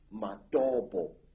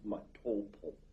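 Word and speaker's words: Matobo: place called the mountains of the round rocks matabo wrongly pronounced matopo in in Zimbabwe this Hills are really not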